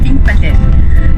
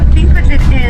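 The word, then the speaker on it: Þingvellir: And the letter in the beginning of the word that looks like a P with an extra line coming out of it is pronounced TH. It's called thop. And it's a TH sound as in thing or thorn or thank you.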